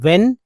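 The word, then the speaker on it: when: डिड not tell him इ एन को एन बोलते हैं एक्चुअली एन तो है ही लेकिन एच जो है यह साइलेंट है तो डब्ल्यू इ एन व्हेन ही was naughty naughty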